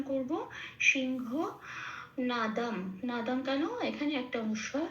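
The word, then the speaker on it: সিংহনাদং: যথারীতি অনুসার মাঝখানে আছে অনুসটা মত রেখেই আমি উচ্চারণ করব সিংহ নাদাম নাদাম কেন এখানে একটা অনুস্বর শেষে আছে সেজন্য এটা ময় হসন্ত হয়ে যাবে সিংহ নাদাম আচ্ছা বি বিনা এটা একটু উচ্চারণের সুবিধার জন্য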